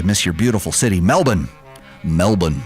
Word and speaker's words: Melbourne: Melbourne, that's how you say it. It's not Melbourne. Don't sound like a Yank over here.